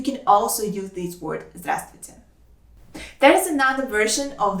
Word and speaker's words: Здравствуй: also use this word здравствуйте. There is another version of this word that sounds Здравствуй. Здравствуй. There are 2 syllables in this word and the first one is stressed.